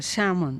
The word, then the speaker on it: salmon: outro é salmão é Samon escreve fica esquisito né Escreve salmon mesmo né mas a pronúncia é Samon salmon e daí o